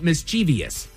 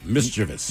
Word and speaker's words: mischievous: So, a frequent mistake is saying mischievous. It's mischievous.